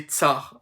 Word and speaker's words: tsar: C'est-à-dire César, prononcé tsar en russe.